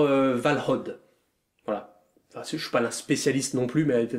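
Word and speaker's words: Valhǫll: Alors déjà, ça se prononce pas Valhalla, Valhalla la Schrumpflala, hein, ni Valhalla, du coup, qui serait plutôt la version germanique, mais c'est plutôt un truc du genre Valhod.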